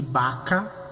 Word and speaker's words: vaca: Vocês podem perceber, B larga, B corta é o mesmo som, B. Então você vai pronunciar bueye para boi e vaca para a fêmea do boi, a vaca.